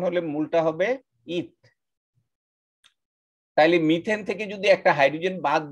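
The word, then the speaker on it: methane: যেমন এখানে একটা কার্বন আছে, তাইলে এই মিথের সাথে এন যোগ করে আমরা মিথেন, এই যে দেখছো METH, মিথ, এটা উচ্চারণটা আমরা পড়বো মিথ, ম্যাথ না, মেথেন বলবো না, আমরা বলবো মিথেন।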